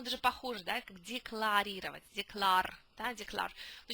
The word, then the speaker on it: declare: Declare. Да, declare. Но читается declare.